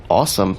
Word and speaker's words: Ausdom: we started talking about the brand name ausdom can also be pronounced awesome so that's great and